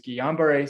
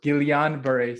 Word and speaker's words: Guillain-Barré: And it's a similar sort of analogy of there's Guillain-Barré syndrome, or Guillain-Barré syndrome. The L is actually pronounced apparently. There's Guillain-Barré syndrome.